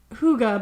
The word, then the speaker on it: hygge: shout out to chelsea um called hygge it's pronounced hygge but it's spelled hygge and it's it it's